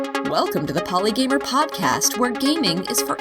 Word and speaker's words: Polygamer: that it had the potential to be misinterpreted poly gamer you look at it the way it's spelled could be polygam or even if you do pronounce it correctly poly gamer I've had people say oh it must be